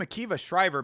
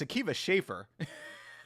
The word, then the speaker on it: Akiva Schaffer: I always called him Akiva Shriver, but apparently it's Akiva Schaffer.